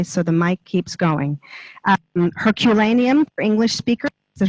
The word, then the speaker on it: Herculaneum: Herculaneum for English speakers, is it Herculaneum as opposed to? Excuse us. Technology-wise, there we go. Herculaneum for English.